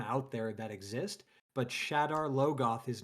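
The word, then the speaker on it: Shadar Logoth: Of all the things in in Wheel of Time where you could get into a pronunciation dispute. Shadowlogoth That's the last one cuz I've never heard anybody who's ever read this pronounce it differently than from what I pronounced it as or uh you know, as it was in the glossary.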